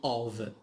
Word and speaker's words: of: We have also in the bottom of, which means في الأسفل, in the bottom of. Here F it is pronounced V.